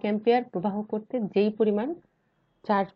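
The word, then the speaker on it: ampere: অ্যাম্পিয়ারকে লিখি এএমপি দিয়ে। এটা উচ্চারণ কিন্তু অ্যাম্পিয়ার, আম্পায়ার না। তারপরে এসেছে কুলম্ব।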